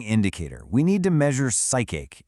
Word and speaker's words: psychache: We need to measure psychic, and yes, it's pronounced psychic.